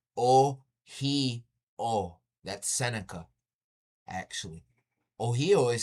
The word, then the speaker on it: Ohio: Ohio. That's not right. That's the colonized way to say it. It's O heo.